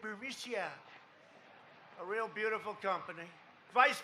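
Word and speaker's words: Burisma: with the burmese executives so this uh bureaumicia bermucia they say pronounce it borisia a real beautiful company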